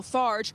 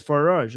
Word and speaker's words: Farage: And in the UK, reform leader and staunch Trump ally Nigel Farge.